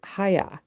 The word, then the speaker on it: Haigha: happy his name is haigha he pronounced it to rhyme with mayor I love my I